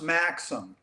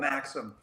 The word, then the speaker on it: Maxim: I can, We and can just for the listeners out there, it's pronounced Maxim, Maxim. not the Canadian or French Maxim, Oh. but Maxim.